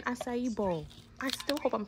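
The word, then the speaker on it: açaí: and it turns out it's not a Kai it's aai you living your word so it's an asai Bowl I still hope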